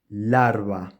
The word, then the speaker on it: larva: we have arable and larva again I am producing the approximate sounds larva um and again